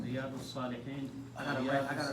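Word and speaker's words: رياض الصالحين: Riyadus Salihin.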